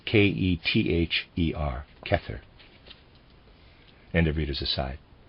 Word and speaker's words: Kether: head if he has great knowledge were called kether the crown by the ancient Hebrews readers side kether I'm pronouncing it that way it's spelled ke t h e r kether and of readers aside and this human